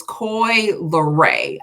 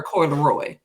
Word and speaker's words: Coi Leray: So I always say her name wrong. It's Coi Leray. I've been calling her Coi Leroy.